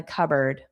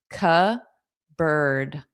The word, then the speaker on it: cupboard: And then I think there are some chips in the cupboard. Notice the pronunciation, cupboard. Cu bird. So, it does not look like these two words.